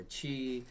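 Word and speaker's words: 気: ki is actually a Japanese word. Ki, which is or chi, Mm-hmm. however you want to pronounce it. It all depends on what side of the globe you're coming from.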